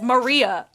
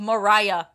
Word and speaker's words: Maria: Like, people don't know how to pronounce my name, and it's Maria. I've told this story, and I'll tell it again. On graduation day, I was the graduation speaker. And then when people were congratulating me on my good speech or whatever, they said, "Good job, Mariah."